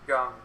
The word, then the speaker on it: Jung: Same, I don't know why it's pronounced Gung, but it is.